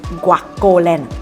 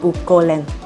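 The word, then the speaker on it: Guocoland: Anyway, a side note, it's pronounced as Guacoland, not guolan.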